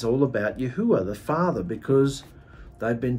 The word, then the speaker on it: Yahu: in English it's not Yahweh it's not Yahweh with a W it's yahu that's how you say his name but the thing is